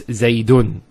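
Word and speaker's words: زَيْدٌ: And that's the same with, for example, Zayd. It's Zaydun. Tanween as well.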